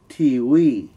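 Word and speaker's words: ทีวี: It's tiwi. And you got to understand that Thai people, a lot of Thai people have problems pronouncing the English letter V, simply for the fact that there's no V sound in the Thai alphabet.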